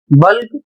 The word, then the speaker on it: bulk: अगला शब्द है BULK, बल्क, जिसका अर्थ होता है थोक। अगला शब्द है ELK और इसका उच्चारण होगा एल्क, इसकी हिंदी होगी एक प्रकार का हिरन।